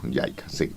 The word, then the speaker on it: JICA: estudio financiado por JICA, o se pronuncia JICA, ¿no? JICA, J-I-C-A, del Japón.